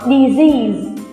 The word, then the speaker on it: disease: quen nha cô có disease nhớ là có âm cúi nha Đọc lại nào disease